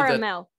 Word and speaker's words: caramel: The word has three syllables. Schwa. People might say, and that final syllable is where the second syllable is going to have a schwa sound, and that final syllable